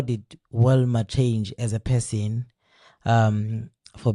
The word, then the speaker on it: Wilma: When I say one, I heard the name, I thought they were mispronouncing the name, they incorrectly pronouncing the name, and and also when I saw you, I thought this must be Vilma. Definitely, it can't be Wilma, right? And when I said Vilma, you said no, I'm not Wilma, I'm Wilma.